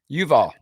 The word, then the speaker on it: Yuval: Harari and I'm saying jual how do you pronounce his name Yuval jual and uh and and what what we're